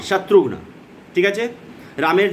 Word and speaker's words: শত্রুঘ্ন: শত্রুঘ্ন, এটা তো আগেও উচ্চারণ করে দিয়েছি আমি, তালবস্য ত্রয় হর্ষও আধা ঘ ন, শত্রুঘ্ন।